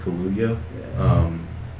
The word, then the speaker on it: Kaluuya: And the actor Daniel, I think it's pronounced Kaluuya.